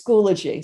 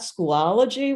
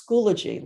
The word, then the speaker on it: Schoology: um so it is schoology so it's not schoology where i've i've heard it said that way it's schoology like biology schoology um it is